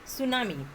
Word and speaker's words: tsunami: बहुत सारे स्पेलिंग ऐसे रहते हैं, एस से प्रोनाउंसिएशन है बट टी से यहाँ पर स्टार्ट हुआ है, तो ये भी ध्यान में रखते जाना। Okay, सुनामी।